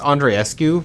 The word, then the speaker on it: Andreescu: I think it's Andreescu because typically when you have like the double E, because she's Romanian, usually you pronounce them, but it doesn't matter.